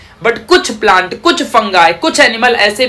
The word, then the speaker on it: fungi: आप सबको पता होगा कोई कोई टीचर इसे फंगाई कहता है, कोई कोई टीचर इसे फंगी कहता है, कोई कोई टीचर इसे फंजाए पढ़ता है, डिपेंड करता है तुम